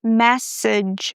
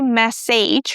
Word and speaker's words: message: Like in the word message. We don't say message, right? Message.